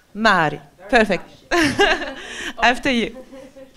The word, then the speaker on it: MAARÏ: Do you say the two A? I would say MAARÏ. MAARÏ.